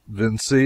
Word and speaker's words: Vinci: They spell it Vinci and pronounce it Vinci.